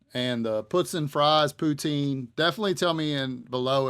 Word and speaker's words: poutine: the puts in fries poutine definitely tell me in below if you're from the Northeast how you pronounce it cuz I'm definitely interested but the waitress said it was puton so I'm going to